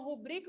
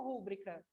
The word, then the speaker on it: rubrica: não é igual o mesmo caso vou pessoal rúbrica ou rubrica obrigado obrigado não tem acento agudo na no